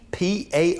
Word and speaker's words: Parlaghy: This lady right here, her name is Princess, I'll just spell it for you. Lwoff. Loff dash Parlaghy, P-A-R-L-A-G-H-Y, P-A-R-L-A-G-H-Y, Parlaghy.